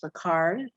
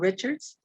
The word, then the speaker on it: Richards: We also have Attorney Gerald Richards, and the correct way to say his name is Ricard, so I kind of put Gerald Richards.